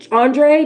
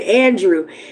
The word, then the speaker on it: Andrew: Once again, those videos were by Andre. Did he say Andre or Andrew? No, I'm sorry. He said Andrew.